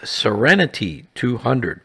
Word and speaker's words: Seren T200: This was rebranded as Serenity 200, pronounced like the word serenity.